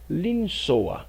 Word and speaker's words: לנסוע: O verbo viajar se pronuncia linsoa.